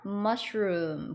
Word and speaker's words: mushroom: 여기 보시면 mush 에서 잘라주시고 room 보시면 앞에 있는 mush 먼저 발음해 주실 거예요. 그러면 mush sh가 sh 발음 나니까 mush 해주시고 뒤에 room 어디서 많이 보셨죠? 방이라는 뜻의 room 이런 단어예요.